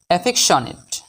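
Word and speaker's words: affectionate: এফ ই C fake C এর উচ্চারণ এখানে ক এর মতো হবে এফেক টি আই ও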